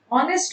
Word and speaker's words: honest: ऑनेस्ट में H silent होता है ना, ऑनेस्ट नहीं होता है। ऑनेस्ट में एच तो साइलेंट है, ओ आ रहा है, वॉवल साउंड है, तो एन लगना चाहिए ना।